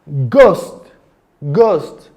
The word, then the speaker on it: ghost: Now, the letter H can be silent in words like hair, honor, ghost, rhythm.